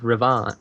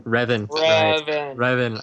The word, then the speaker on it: Revan: Star Wars the Old Republic called shadow of ravan Riven dang it Logan how do you pronounce it again Reven I will never remember that I always go